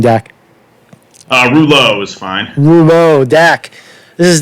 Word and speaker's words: Rouleau: that this is a deck how do you pronounce in your last name deck reloj is fine Nemo deck is that we know